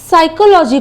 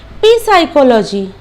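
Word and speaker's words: psychology: मां लीजिए की अगर आप साइकोलॉजी को साइकोलॉजी नहीं बोलके आपको ग रहा है की ये जो स्पेलिंग है यह पी से स्टार्ट हो रहा है तो अगर पी से स्टार्ट हो रहा है तो हमको उच्चारण भी टी से करना है तो आप तोड़ तोड़ के स्पेलिंग को इस तरह प्रनंसीएट कर दिए पीसीकोलॉजी की तो सोचिए आपका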